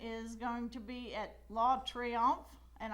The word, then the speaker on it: La Triomphe: That golf tournament is going to be at La Triomphe, and I'm sure I didn't say that like the true Cajuns in French would say it. No, La Triomphe. That's how you say it.